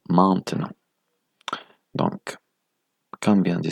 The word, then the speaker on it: maintenant: concernant le E muet, si le E muet se trouve en deuxième syllabe, le E nasal doit être supprimé. D'accord? Vous ne devez pas le prononcer, donc vous diriez, dans ce cas-là, maintenant.